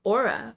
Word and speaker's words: Aura: Aurora, right? No, Aura. Aura blanket? I'm saying it wrong. Aura blanket. Oh, that's still pretty. Like Aura. Oh, I like that. I was throwing in some extra letters.